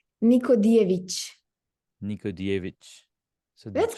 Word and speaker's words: Nikodijević: So I was gonna say Yeah, Nikodijević, right? But you said because J, what you call J in Serbian is pronounced Y. it's like Nikodijević. Jević. Okay. Nikodijević.